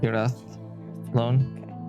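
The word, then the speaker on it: Irathlone: be taking dinner if um erathon and it's pronounced so it's i-r-a-t-h-l-o-n-e your throne like alone but Europe era loan yeah throne but it has more of our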